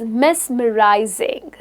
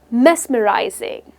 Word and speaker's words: mesmerizing: But the word that you can use is mesmerizing, pronounced as mesmerizing. The stress is on the first syllable, mesmerizing.